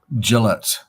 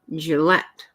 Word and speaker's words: Gillette: it's actually um gillet Gillette gillet gillet oh okay so I've been saying it wrong too well good thank you nature for us on top of our pronunciation game I I think it's j well if it's not